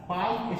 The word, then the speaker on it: Palk: पाक खाड़ी मतलब पाकिस्तान नहीं समझिएगा, पाक का यहाँ स्पेलिंग PALK।